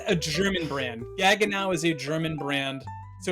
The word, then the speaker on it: Gaggenau: But gaga now.